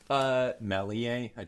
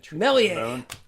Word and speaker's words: Méliès: Méliès. Méliès. Okay, George Méliès. Thank you.